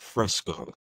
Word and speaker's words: Fresco: I did a quick Google search, and it's pronounced Fresco.